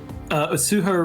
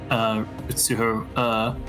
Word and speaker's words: Utsuho: Okay, so how do you spell that again? Utsuho Reiji, so U-T-S-U-H-O.